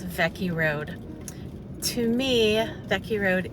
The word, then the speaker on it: Weke: which might look like wacky w-e-k-e road but in Hawaiian W's are pronounced like V's so it's vecky Road to me Becky